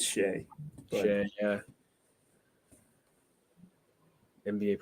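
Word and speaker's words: Shai: If they could ever get Shy. I keep calling Shy. I think it's Shea.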